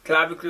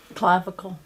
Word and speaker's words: clavicle: producer clavic clavicular clavicular clavicle and spanish clavicula so what's english pronunciation clavicle clavicle just about to say